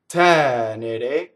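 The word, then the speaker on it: tenere: Now, the accent in the word tɛnere is on the first syllable. That is not common in Italian when you have a three-syllable word. Most of the time in Italian, your stress is on the second to last syllable. That's the most common stress. And if you notice in this one, it's tɛnere.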